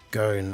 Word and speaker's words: scone: It's scone as in gone, not scone as in throne.